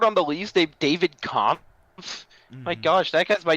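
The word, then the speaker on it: Kämpf: to play it David Camp no it's comp it's k a m PF that is pronounced comp Camp holds if you're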